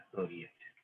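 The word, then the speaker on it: psoriasis: तो सोरियासिस में ये पी साइलेंट होता है, सोरियासिस, समझ गए।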